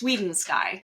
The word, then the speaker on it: Swidensky: I won't It's Swidensky if you really want that help, but I'm sure you can find my name in the show notes.